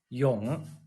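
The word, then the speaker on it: 永: of this character here see Yong y o n g in English letters and uh and here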